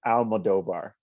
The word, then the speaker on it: Almodovar: How do I actually pronounce your last name? I'm actually don't want to mispronounce it. That's all right. It's Almodovar.